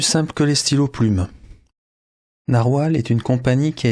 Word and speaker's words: Narwal: renommée en navalure mais il ne faut pas prononcer paraî-il navalure il faut prononcer narwal il paraît aussi qu'en